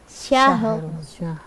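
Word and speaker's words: شهر: Jangan lupa ketika ada dua huruf yang mati, kan di sini ada dua huruf yang mati, maka cara membacanya dihentak. Bukan qadar, syahr, tetapi qadar. Dihentakkan supaya e-nya bunyi e atau tawallud menjadi hilang.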